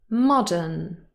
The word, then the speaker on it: modern: on the second syllable modern modern no that is false this word is stressed on the first syllable it is a common